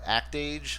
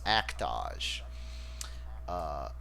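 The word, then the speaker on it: Act-Age: is I talked about act age last podcast it's actually and I love this right it's pronounced to rhyme with the word montage so it's actually pronounced act ah SH and I'm never gonna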